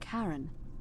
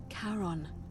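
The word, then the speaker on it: Charon: it's just as you described it only your pronunciation is a little off the name you heard wasn't karen it was c-h-a-r-o-n as in caron the ferryman of the dead who in exchange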